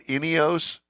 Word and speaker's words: Ineos: So did I pronounce it right? Ineos? Yes. Ineos Grenadier is the name of the vehicle.